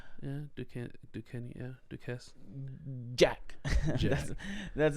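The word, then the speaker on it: Duquesne: Are you seeing the Yeah, S is silent? It can be silent. Yeah, Ducaney.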